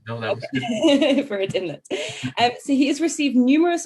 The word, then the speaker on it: Burrard Inlet: No Good Brother, and the short story collection, Burrard Inlet. I hope I'm pronouncing that right, Tyler. Does that sound right? No, that was good. Burrard Inlet.